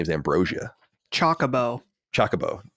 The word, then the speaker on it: Chocobo: say in the game they're all like Chocobo oh my God I don't like chocolate when I was a kid I used to call it the I think Chaka Boo or something like that I wasn't definitely not saying it right yeah that sounds like